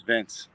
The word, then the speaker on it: Vinc: with one dude because he pronounced my name vinck he calls me vinc and i was like my name is vince and then he doesn't